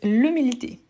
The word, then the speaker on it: humilité: Super, donc c'est l'humilité. Donc c'est un H muet.